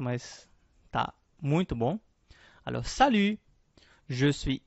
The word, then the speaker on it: salut: É importante a gente prestar atenção na pronúncia, né, do U. Então faço o bico. Né? Eu vou dizer o U, mas em vez de dizer o U, eu digo a letra I.